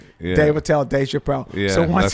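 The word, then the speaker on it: Dave Attell: i tell go well when you say my name just say quick just say david tell don't don't don't pause no falls don't lean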